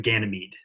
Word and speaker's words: Ganymede: It's pronounced Ganymede.